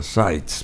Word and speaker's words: Seitz: El abogado Seitz, pero ya en una ocasión anterior dijimos que Seitz es un apellido alemán y bueno, uno pronuncia Seitz, pero en fin, como quieran